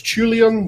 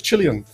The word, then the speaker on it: Chilean: name in the past I honestly thought that was Julian but it's Chilean apparently um so here we